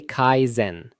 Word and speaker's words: Kaizen: Pronounced roughly Kaizen.